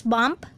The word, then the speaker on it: BMP: the short for bitmap it can be pronounced as bump bmp or simply a bitmap image the bmp format